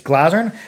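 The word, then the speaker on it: Glazyrin: in the Glazerin, and I've been mispronouncing this. I've been calling Glazerin harps or Glazerin harps. It's pronounced, I think, Glazerin. It's Glazerin.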